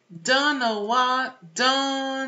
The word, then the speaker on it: don't: Don't know. Tá vendo que não é don't know? Esse T não tá com nada, gente. T e final de palavra não tá com nada, ó.